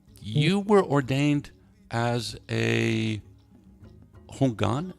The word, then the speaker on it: Hungan: You were ordained as a Hungan. Am I pronouncing that right? Yes. Hungan, a voodoo priest at 17.